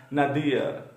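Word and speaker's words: nadir: नदिया, इसको कई लोग नादिर पढ़ते हैं, लेकिन ये नादिर नहीं है। नादिर किसी का नाम हो सकता है, बट इस वर्ड का सही प्रोनाउंसिएशन है, सही उच्चारण है नदियर।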